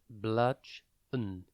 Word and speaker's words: bludgeon: time today's word is bludgeon it is pronounced bludge n and it is spelled b l u d g e o n think blood and then gon b l u d